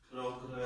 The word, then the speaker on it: progress: That nouns will have the main stress coming. I think first. Okay? First. On the first syllable, that's right. And they sound like what? Import. Export. Progress.